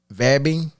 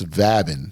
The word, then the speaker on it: vabbing: Vabbing? Vabbing? Yeah. Like VABING? Yeah. Vabbing? Yeah. The fuck is that? Not vaping. Okay, I was almost thinking you were thinking vaping, but nope. It's vabbing.